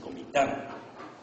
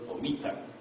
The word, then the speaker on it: Comitán: Allá se dice Comitán y no Comitán o Comitlan.